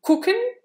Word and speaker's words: gucken: Et ça vient de gucken. Gucken. Mais ça se prononce plutôt comme un K, en fait. Alors que c'est un G.